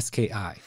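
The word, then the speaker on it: 好き: Cher for me was the word ski H and it sounds like you're saying like downhill ski like it sounds like ski yes but it's spelled TS U Ki ski and this means to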